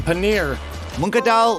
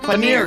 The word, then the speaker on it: paneer: Monadal paneer. Paneer.